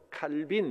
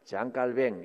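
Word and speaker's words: Jean Calvin: 할 수 있는 칼뱅 영어식으로는 좋은 칼빈 이렇게 부르는데 원래 이분이 있던 곳에 발음으로 하면 장 깔뱅입니다 장 깔뱅 이렇게 부르는게 맞다고 합니다 이분은 이렇게 말했습니다 교회를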